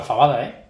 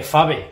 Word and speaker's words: faba: que no se dice fave que se dice faba Bueno pues nada pues perdóname los asturianos Pero pero bueno O sea que no se dice faba alguien preguntaba que si